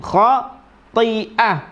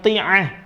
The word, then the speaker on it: خاطئة: Nasiyatin ka itu ikhfa, dzibatin idhar, tin khati'ah, banyak yang ti'ah, banyak ini yang kita dengarkan, banyak yang bacanya ti'ah padahal ini adalah hamzah, ti'ah ya.